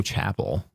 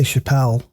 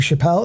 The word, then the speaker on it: Chappelle: I say Chappelle. Um cuz Yeah, it's spelled like Chappelle Show. Yeah, I'm I'm going to say at this point in life, if you if your last name looks like that, you're Chappelle. Unless I'm told different.